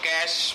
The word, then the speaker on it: cache: ठीक है, चलिए चलते हैं और देखते हैं अपने सिलेबस के अकॉर्डिंग हम लोग कैश मेमोरी को और कैसे समझ सकते हैं। Okay, so कैश memory, the कैश memory pronounced as कैश, इट is nearest to द सीपीयू, so also called CPU memory.